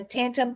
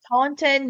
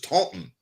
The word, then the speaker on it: Taunton: Tantum Conference Center in I'm saying it wrong. Taunton, Massachusetts. And the only reason I know what it's them. pronounced is because my friend Robin's from up there, and Okay. she wrote me back. She said, "This is Taunton."